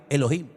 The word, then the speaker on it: Elohim: Y el primer nombre que conocemos de Dios, si empezamos a leer la Biblia desde el principio, es un nombre que se pronuncia Elohim.